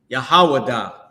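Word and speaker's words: יהודה: The book of Jude is Yahawadah.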